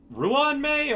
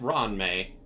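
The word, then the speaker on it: Ruan Mei: that includes getting uh Ron Ruan May or is it Ron May Ruan may but Ron you can pronounce it whichever one you want though yeah Ron may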